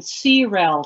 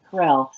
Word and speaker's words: CREL: this uh Krell Center I I kept saying cell to Elana and Harriet but now I know how to pronounce this Krell what an incredibly diverse and multidisciplinary and impressive